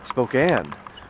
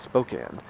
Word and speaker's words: Spokane: in the world like out here people say Spokane like back east we call it spoken another thing is like